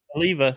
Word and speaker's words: Olivia: Olivia, yeah.